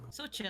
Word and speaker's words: Xochitl: Sorry if I pronounce this wrong. So Xochitl, you said? So chill.